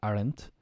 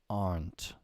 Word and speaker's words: aren't: they aren't alone ah pronunciation here guys aren't one syllable often I I often I'll hear Ireland because of the transparency but it's aren't aren't a-r-n-t aren't they aren't alone with